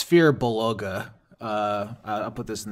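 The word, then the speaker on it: Firbolg: is that funny a fear Beluga like a beluga whale feug fear buug mhm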